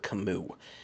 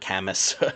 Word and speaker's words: Camus: just listening to this kamu is spelled c a m u s so if you see that in the notes it's not cus or Kus it's kamu so here's what long